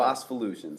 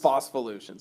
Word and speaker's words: Phospholutions: How do you pronounce it properly? Fossvolutions. Fossvolutions.